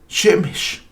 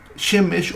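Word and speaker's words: שמש: Estas 3 letras forman esta palabra, Shemesh. Aquí tenemos la Shin, la Mem y la Shin. Shemesh o Shemesh. Ya que, bueno, en el hebreo el acento recae siempre en la última sílaba.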